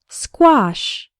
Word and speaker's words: squash: in the word square the letter A has the a sound like in father and wash and the final sh sounds like in fish and cash say the word after me squash the word squash refers